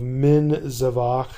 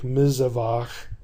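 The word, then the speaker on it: מִזֶּבַח: consonant so we have we began with the theoretical form of min zavac and that in pronunciation began to sound like mizavach and so they just doubled the Zion and dropped the middle they didn't really drop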